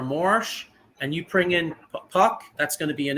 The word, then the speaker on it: Puk: Puck.